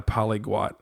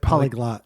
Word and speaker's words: polyglot: Yeah, I foiled all over my Polygot. Is that how you say it? Polyglot. Polyglot. Polyglot with Is it double T? No. No. One T.